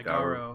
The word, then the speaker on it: Garo: Yeah, Garo. Garo.